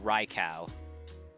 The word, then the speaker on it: Raikou: Because in a lot of languages the U after O makes an extended U sound instead of a ow. But like I can get behind Raikou.